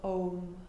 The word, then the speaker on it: Om: Pause your playlist and conclude in the sound, the syllable of Om. A-U-M, A in the belly, U in the chest, M in the head.